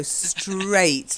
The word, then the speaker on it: straight: a bit Australian straight so straight like eight okay it rhymes with eight try it again I